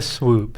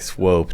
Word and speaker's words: Swope: Isaiah Swoop. That's just fun to say. He's going to swoop in and come Do we to know Kentucky. it's swoop? It looks like it's spelled like swope to me.